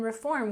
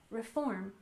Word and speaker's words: reform: immigration IM migration and in reform we stress the second syllable reform reform immigration reform of course